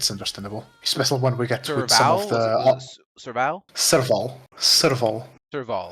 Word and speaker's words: Serval: Serval. Serval. Serval. At least that's how they pronounced it in game.